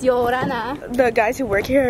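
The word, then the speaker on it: Ia ora na: I think it's Yo Orana. Yo Orana. But they say it really flowy, so it's Yo Orana.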